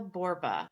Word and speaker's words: Borba: I have Daniel Borba. That's how I pronounce it, right? That's right.